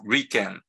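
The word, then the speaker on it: 理研: nobody calls user but people call us just Rican so take one character here and one character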